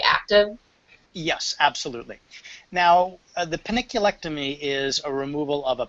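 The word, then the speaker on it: panniculectomy: How do you say peniculectomy? That's exactly how you said it. Oh, is that how you say it? Okay. Peniculectomy, yes.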